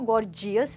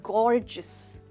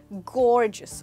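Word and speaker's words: gorgeous: दोस्तों इसकी प्रोनाउंसिएशन पे ध्यान दीजिएगा, हम इसको गॉर्जियस नहीं बोलेंगे बट गॉर्जियस। तो जो GEOU है इसको आप बोलेंगे जिस, गॉर्जियस, और आपका स्ट्रेस आएगा गौर के ऊपर।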